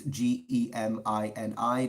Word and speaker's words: Gemini: pronounce it that way, or Gemini, if you want to pronounce it in Latin. Anyways, it's Gemini, just like the Zodiac, Metatron Gemini.